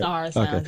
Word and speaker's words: SaharaSoundz: Sahara Sounds, yeah.